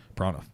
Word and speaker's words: Pranav: in to talk about prana right again it's like one prana one it's like one syllable almost even though it's two i've actually mispronounced my